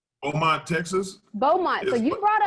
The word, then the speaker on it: Beaumont: Baymount? Beaumont, Texas.